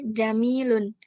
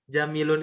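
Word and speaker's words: جَمِيلٌ: Haza jamilun. Hmm. Haza jamalun. Nah, jamilun itu beda lagi. Ya. Jamilun itu tulisannya begini, Hafizah. Jim, ja, mim, sama ya sukun. Maka panjang tadi kan mimnya.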